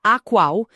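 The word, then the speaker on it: AQAL: Isso, se pronuncia AQUAL, é uma sigla para todos os quadrantes, todos os níveis.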